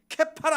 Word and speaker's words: 케파: 있는데 원래는 개바 케파에 원래 발음은 케파 하겠다라고 얘기하는데이 케파가 무슨 뜻이냐 바로